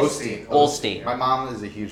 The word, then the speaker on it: Osteen: Osteen.